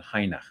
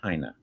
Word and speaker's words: Heine: One YouTube video said that you pronounce it Heine, which is sort of like a Dutch pronunciation, and I'm not quite sure if that's appropriate or not. Dwight Heine.